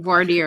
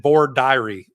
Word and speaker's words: voir dire: Voir dire is what we say. Or they said voir diary in the South. And which, thank God I figured out from other people, that's not how you say it up in New York.